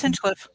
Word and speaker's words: Hinchcliffe: Yeah, it's Hinchcliffe.